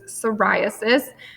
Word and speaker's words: psoriasis: psoriasis so i know has a p at the beginning but the p is silent so it's psoriasis and in the image